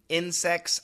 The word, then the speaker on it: insects: The C-T-S almost always sounds the same as an X.